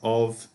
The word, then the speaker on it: of: And also let's remember that of, even though it's got an F, it has the sound of a V. If it had double F, that's when we pronounce it like an F.